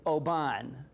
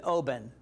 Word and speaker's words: Oban: by the Scots because I've always said Oban and I said well Stuart how do you say it he said Oben I said oh really